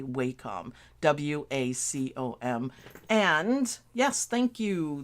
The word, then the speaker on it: Wacom: so I understand what you're saying Judy but it's spelled different so um it's by Wacom actually they say Wacom but I can't do it so I say Wacom w-a-c-o-m and yes thank you there you go